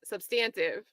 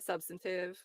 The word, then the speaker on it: substantive: me up too because I used to say the UK pron pronunciation which is substantive and people were like no that's not how it's pronounced it is in the UK but I'll switch to the American the substantive and let's see no